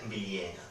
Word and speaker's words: Bilyäna: Esa A larga en contextos internos de vocal larga, de alargamiento, tiende a hacerse E, ¿vale? Por lo tanto, la pronunciación correcta sería Viliena, ¿vale?